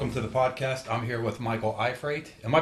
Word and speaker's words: Iafrate: I'm here with Michael Iafrate. Am I pronouncing your name right?